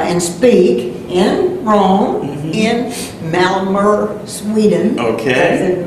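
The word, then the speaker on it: Malmö: speak in Rome in malmer Sweden okay malm MO is the way you spell it say it malmer uh and uh so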